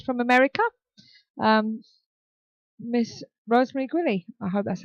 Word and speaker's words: Guiley: I haven't got it wrong uh can you pronounce it for us please it's giley Rosemary Ellen giley right okay uh welcome to